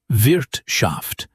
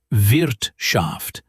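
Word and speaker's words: Wirtschaft: The word vshaft, economy, business. Not vshaft. It's vershaft.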